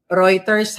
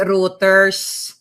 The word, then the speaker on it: Reuters: Reuters ha. Hindi routers.